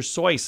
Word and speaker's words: Seuss: name was Dr Seuss a correct German pronunciation rhymes with voice so Dr so is how it should